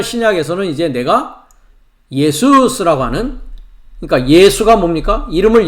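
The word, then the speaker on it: Ἰησοῦς: 예수스. 헬라어 발음으로는 예수스라고 합니다.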